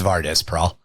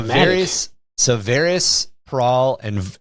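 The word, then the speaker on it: Vardus Praal: I just pronounced it Varys the first time because I'm an idiot. It's Vardis Prahl.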